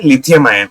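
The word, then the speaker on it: Li-ion: सबसे पहले ये लायन नहीं है, मैंने जो प्रोनाउंस किया ये LIIN है, लिथियम आयन, लिथियम आयन बोलते हैं इसको।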